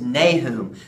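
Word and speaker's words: Nahum: the baby Jesus that's right and next is nay whom so we're gonna cut your nose and try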